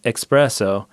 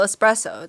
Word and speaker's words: espresso: pressed out coffee however the pronunciation and spelling expresso with an X instead of an S has grown greatly in popularity probably due to the influence of express okay so it's still espresso yeah yeah yes still